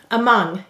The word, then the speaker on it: among: The first syllable is A. Second syllable is mong. M-ah-ng.